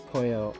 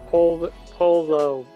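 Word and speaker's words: pollo: I can only think of chicken po Polo pronounce Poyo in is Spanish for chicken oh yeah it is huh we can we can just Spanish chicken it's not pronounced Polo I know I didn't see it at first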